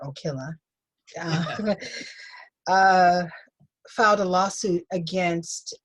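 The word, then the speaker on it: Ocilla: uh georgia which is and that's how they pronounce it here okila uh filed a lawsuit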